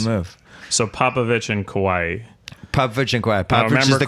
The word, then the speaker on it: Kawhi: move so Popovich and kawaii Popovich and quiet remember the car as Kawhi is like an island correct boy he's one